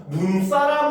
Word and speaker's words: 눈사람: 짧게 발음을 합니다 그러니까 우리가 눈이라고 하면 하늘에서 내리는 눈을 길게 바름을 하거든요 알겠죠 그래서 눈사람 하면 이때는 여전히 눈이 첫 번째 음전 있잖아요 그죠 그러니까 길게 발음해서 눈 사람 이렇게 발음을 합니다 알겠죠 근데 반면에 한방